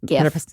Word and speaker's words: GIF: And GIF, hard G. It's hard GIF.